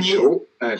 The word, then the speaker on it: 仇: 对，他这个仇恨的仇，但是读成裘。